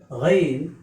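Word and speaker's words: غين: Its pronunciation in English is G-A-Y-N, Ghain.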